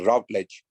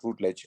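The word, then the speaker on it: Routledge: how you pronounce it you are canadian so i'm assuming that you would pronounce it as rav ledge not rootledge we british us british you who pronounce it as rootledge okay root ledge uh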